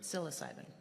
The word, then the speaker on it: psilocybin: How you pronounce that? psilocybin.